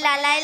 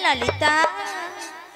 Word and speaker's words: ললিতা: বলে লালাই লালাই লালাই লালাই লালাই লালাই ললিতা। মাসি কি ওটা লালাই লালাইও নয় আর ললয় ললয়ও নয়, তাহলে বলো ললিতা। লো লো লো লো বলো ললিতা, ভালো করে উচ্চারণ করো।